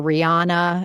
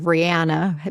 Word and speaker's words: Rihanna: Beyond that, she says that at trial, they kept calling her Rihanna instead of Rihanna, which is how her name is pronounced.